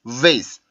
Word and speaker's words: vase: 근데 base, vase, base, vase, base, vase. 이거는 확실히 차이가 생기죠. 왜냐하면 그 마찰음의 특징인 위발음을 정확히 해줘서 그렇습니다.